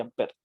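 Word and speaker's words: Ampère: Se escribe Ampere, pero se dice Ampere.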